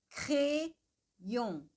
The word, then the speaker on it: crayon: Crayon, crayon, crayon. Aqui, como temos o Y, o Y, crayon, crayon. Então, ele não fica crayon, ele fica crayon.